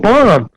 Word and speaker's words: BOM: I should write bomb. Yeah, B-O-M. That's bomb. That's bomb. The other B is silent, so why not?